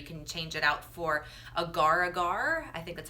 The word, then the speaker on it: agar-agar: You can change it out for agar-agar, I think that's how you say it, A-G-A-R powder, instead of gelatin.